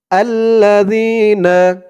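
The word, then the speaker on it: الَّذِينَ: পরে ইয়া সাকিন আর এখানে জালের উচ্চারণটা একদম নরম পাতলা হবে জিহ্বার মাথা উপরের দাঁতের মাথার সাথে লাগবে জালের উচ্চারণটা করার সময় আল্লাজিনা এক আলিফ টান জবরের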